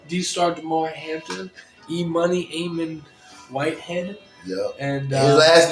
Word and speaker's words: Whitehead: I'm thinking it's like, now it's spelled Whitehead. I'm trying to go with it Hidad or something. I'm thinking it's like Arab or something. Nope, he said, nope, it is Whitehead. Yep, it's exactly as it sounds.